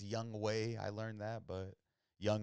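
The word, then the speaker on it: Younghoe: go so dope Mikey yeah we got a young ho even though it's pronounced young way I learned that but young ho in the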